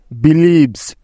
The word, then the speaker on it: believes: লক্ষ্য করে দেখো যে এখানে প্রত্যেকটি উদাহরণে এস এর আগে এই 7টি বর্ণের যে কোনো একটি আছেই, তাই এখানে এস এর উচ্চারণটা জয়ের মতো হয়েছে।